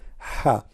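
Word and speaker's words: ح: Ha. Now, how to pronounce letter Ha? Imagine yourself, you are getting cold and you are saying it's cold. That's Ha. Very simple.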